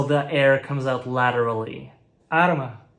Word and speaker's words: arma: Arma, weapon, is pronounced like alma, soul.